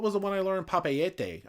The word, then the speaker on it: Papeete: Papeete. I used to say Papiti Tahiti because I thought they rhymed. No, it's Papeete. It's Papeete Tahiti.